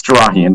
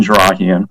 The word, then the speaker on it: Jarahian: And before I was having a little trouble unmuting myself, but pronunciation is close, but it's Jarahian, Jarahian.